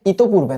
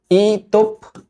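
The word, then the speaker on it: ইতঃপূর্বে: চাচাতো ভাই বোনদের সাথে ইতপূর্বে, এটার উচ্চারণ কিন্তু এরকম, হ্যাঁ, ইতপূর্বে না, ইতপূর্বে।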